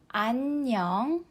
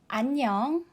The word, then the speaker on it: 안녕: of this greeting is peace let's say together annyeong annyeong the first two syllables are exactly the same as the previous